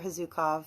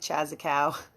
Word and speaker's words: Chazukow: So if you guys don't know who I am, my name's Hazukov. It looks like Chazakau, but that's how it's pronounced.